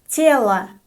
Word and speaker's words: тело: The first word for today is тело. Тело. The unstressed O is pronounced as a.